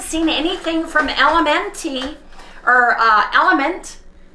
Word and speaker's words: LMNT: anything from lmnt or element i think you pronounce an element i think it's a play on words or they've done elementy i think it's element but you guys i'm